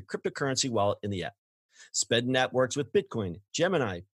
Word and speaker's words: Spedn: Flexa has established a network and launched an iOS wallet app called Spedn, it's S-P-E-D-N, I swear I didn't mispronounce that, that allows you to spend cryptocurrencies at brick-and-mortar retailers.